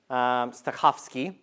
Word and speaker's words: Stokowski: Stokowski, you got to have the Polish pronunciation, working on Barber's Adagio for strings.